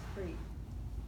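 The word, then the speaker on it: hrī: The way you see it, if you see it in books, it's H-R-I. How you pronounce it is Cree. So the C is not there.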